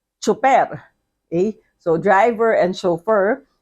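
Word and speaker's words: tsuper: So we say driver or we say chofer. Okay? So driver and chauffeur. Then we spell it in Filipino, chofer, T-S-U-P-E-R, or driver.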